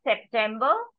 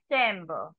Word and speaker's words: September: heighten Z right so it is not September it is zember zember the V sound will